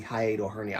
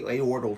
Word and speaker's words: hiatal hernia: So, I'm still not quite It's because of the hiatal hernia. I I kept calling it a aortal to to you guys. It's not a mis I'm mispronouncing what the diagnosis. It's hiatal hernia.